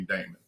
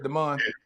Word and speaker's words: Deon: the few people who pronounce it the way my mama intended but everybody calls me Damon all right so you want me to do what your M said Deon yeah you either way